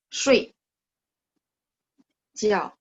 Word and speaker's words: 睡觉: Nah, kemarin kan saya bilang kalau tidur, pininnya kan gini cara bacanya. 睡觉, ya kan? 睡觉, nada 4 dua-duanya.